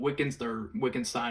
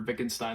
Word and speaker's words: Wittgenstein: This is based off a lot of my understanding of like Descartes and Wittgenstein or Wittgenstein, depending on if you want to say it, the English pronunciation or the German pronunciation.